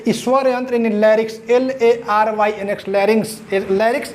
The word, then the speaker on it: larynx: तो इस स्वर यंत्र यानी लैरिक्स, LARYNX, लैरिक्स, इसका प्रोनाउंसिएशन लैरिक्स ही होता है, तो इसको स्वर यंत्र बोलते हैं।